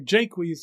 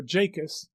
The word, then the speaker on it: Jacques: In As You Like It, there is a character whose name is spelled Jacques and pronounced either Jaques or Jacus, and sometimes Jakes.